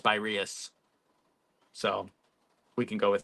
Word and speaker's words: Spyrius: I think I was talking to somebody and he was saying it's pronounced Spyrius.